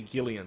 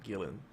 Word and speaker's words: Gillan: Some people say Gillian, but it's actually Gillan.